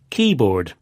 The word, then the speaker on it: keyboard: With compound nouns, the stress usually goes on the first part, like this. Popcorn, ice cream, keyboard.